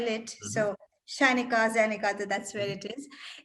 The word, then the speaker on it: Zyenika: Zyenika is actually a Sanskrit word, and I just didn't know the best way to spell it. So Shainika, Zyenika, that's where it is.